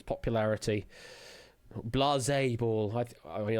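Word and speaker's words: Blaseball: Blas ball. I I mean I've always pronounced it as Blaze Ball because it's basically a riff off the name Baseball.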